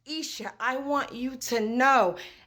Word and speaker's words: Isha: the suffix of Isha I don't care if it's e-e-e-i-i-e-e or just I if your name is pronounced Isha I want you to